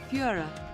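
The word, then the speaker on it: Führer: well it means a tyrannical leader it's pronounced like this apparently Fiora yeah that's a yeah that's the dictionary pronunciation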